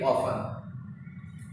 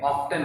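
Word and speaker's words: often: ऑफन, ऑफन means अक्सर, लेकिन इसको अमेरिकन इंग्लिश में पढ़ते हैं, ऑफ्टन बोलते हैं, लेकिन ब्रिटिश इंग्लिश में ये पढ़ा नहीं जाता और ज़्यादातर जनरली लोग ब्रिटिश इंग्लिश बोलते हैं। तो ये ऑफन, इसमें टी साइलेंट है।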